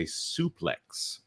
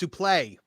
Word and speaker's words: suplex: That interview was a suplex to Disney Star Wars. Marvin, is it suplex or suplex? Suplex. Actually, it used to be pronounced supplé. There is your random wrestling factoid for the night.